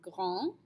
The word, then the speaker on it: grand: tall our base masculine form is gran and when we add the e to make a feminine ground ground all right let's practice